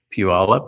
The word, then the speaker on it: Puyallup: to say it because some people don't know how to say pew all up unless you're indoctrinated into the greater seattle